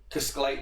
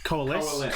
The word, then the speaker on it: coalesce: that in the room that are buzzing around, cascalate into, that's probably not the correct pronunciation, What? is it? Coloscate or whatever the Coalesce.